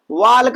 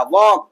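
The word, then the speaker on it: walk: वाल्क पढ़ देते हैं इसको। टाक पढ़ देते हैं इसको। ठीक? तो अब आज से गलती नहीं होगी। आज से गलतियां नहीं होंगी। वाल्क और टाक को प्रोनंसिएट करने में। तो वाल्क और टॉल को भूल जाइए। आप क्या पढ़िए भैया? वॉक।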